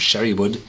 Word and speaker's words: sherrywood: a dominant oakiness so the pronunciation of sherrywood should be on the wood not on the Sherry and this oiness is